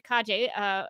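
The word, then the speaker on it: Calle: But speaking of the Flash movie, our latest Supergirl, Sasha Kaje, I almost read my script, reminding myself to pronounce it Kaje.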